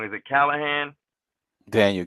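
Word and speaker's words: Kinahan: with I've been probably going to say the name wrong is it Callahan Daniel kennahan yep kenahan at this point I realized and I mean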